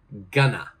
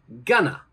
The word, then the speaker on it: gonna: join them together, and the ending of this pronunciation is going to be na. N-A, na. All right, so going to, we're going to change it to gonna.